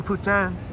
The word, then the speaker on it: poutine: fun watching YouTube eating putan which is the proper pronunciation for poutine and that poutine sure